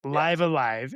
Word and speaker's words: Live A Live: I mean, well, first off, so to go to jump into it, Live Alive is how Nintendo pronounced it on the Nintendo Direct in the American version, whatever.